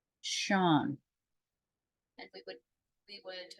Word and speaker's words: Sean: look at this name it looks like C but it's really pronounced Shan and we would we